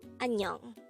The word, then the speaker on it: 안녕: to say hello or goodbye, you can say annyeong. How do you write annyeong in Hangul? This is composed of two syllables.